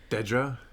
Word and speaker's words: Dedra: don't know he could say her name maybe Deidra dejra well it gets pronounced both ways in the show but she pronounces it Dedra in how one individual pronounces their own name